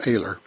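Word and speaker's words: Oehler: Ken Aguilar PhD still makes some of the best stuff of a let's o h le r pronounced a ler his stuff is not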